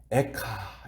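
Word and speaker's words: איכה: 하는이 히브리어가 슬프다라는 말이 발음이 어떻게 되냐면 에카 이렇게 말합니다 이것이 히브리어로 슬프다 그런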